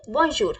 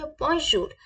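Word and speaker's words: bonjour: respectful person को किसी को हम क्या बोलेंगे बन जूर हमें किसी को हेलो बोलना है क्या बोलेंगे बन जूर प्लीज आप मेरे साथ रिपीट करें बजर ओके और हमें अपने फ्रेंड को या अपने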